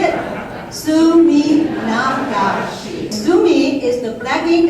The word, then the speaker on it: Suminagashi: than anybody else and without feeling like I mispronounce anything. It's Suminagashi, so if you don't say it right, I will sue you. You want to follow me to say it? Suminagashi.